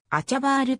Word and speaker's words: Achahbar: 所属ポジションはフォワードオランダ国内でも人によってあシャワールアハバールとも発音されるが本人はあちゃバールと発音している vcs を経て